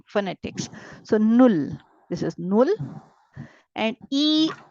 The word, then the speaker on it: null: u l l now if you take the pronunciation of U it is U it is U right so I read this as nul it's not null this is null whatever is the sound